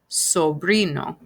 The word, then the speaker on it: sobrino: that word is sobrino sobrino so remember that you're actually pronouncing the vowels just like that so it's sobri no